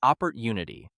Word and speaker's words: opportunity: We say opportunity, with stress near the end.